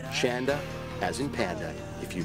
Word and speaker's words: Shanda: The photographer today was Shanda. Rhymes with panda.